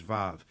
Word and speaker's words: Vav: But actually, it's, Wa, or it's pronounced nowadays Vav. And that's the 6th letter of the Hebrew alphabet. And you see it in verse 41, Vav.